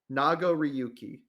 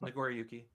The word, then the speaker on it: Nagoriyuki: Is it not Nago? No, Nagoriyuki. Yeah, there you go. Yeah, it's Nagoriyuki.